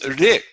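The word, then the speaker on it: ऋ: And this ri, ri is a simple flick of the tongue against that alveolar ridge behind the top front teeth.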